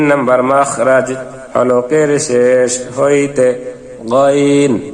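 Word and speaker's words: غ: 3 নম্বর মাখরাজ, হলকের শেষ হইতে গাইন খা। আমরা গলায় যেখানে কাটা বাজলে, কাশি আসলে খেকরানি দিয়ে গলায় খক দিয়ে থাকি, সেখান থেকে এই 2 হরফ উচ্চারণ, গাইন খা।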